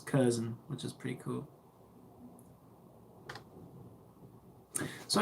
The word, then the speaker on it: Curzon: I wasn't sure how to pronounce it, but it's Curzon, which is pretty cool.